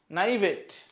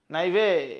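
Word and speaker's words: naïve: ক্ষেত্রে আমরা মিউনিফিসেন্ট বলবো নাইভেট নাইভেট নাইভে নাইভে বলে এটাকে এটা হচ্ছে ফ্রেঞ্চ উচ্চারণ হবে নাইভে ল্যাকিং অর ওয়ার্ল্ডলি এক্সপিরিয়েন্স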